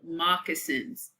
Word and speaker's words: moccasins: Their shoes were also called moccasins. Here we have a pronunciation keyword.